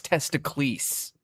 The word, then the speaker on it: Testicles: can't name your character testicles. I was like, "No, it's testicles like Hercules."